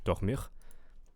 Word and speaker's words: dormir: But also I think here the vowel sounds a little off, where we want ir on the second syllable, dormir.